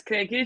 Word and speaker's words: Krekic: my name is i don't pronounce my last name because it's really difficult but it's cranky for anyone wants to know um and uh yeah